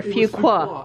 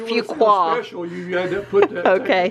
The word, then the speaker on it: Fuquay: we couldn't pronounce that we couldn't pronounce it French was it really a few quite a few quoi if you qua so if we want to sound specialist few quoi we couldn't do that